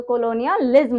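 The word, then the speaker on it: colonialism: अच्छा, इसमें जो है ना, प्रोनाउंसिएशन में हम इसकी स्पेलिंग पे एक साथ यहाँ तक और फिर लिज्म लास्ट में अलग पढ़ते हैं, तो कोलोनियलिज्म होता है ये वर्ड।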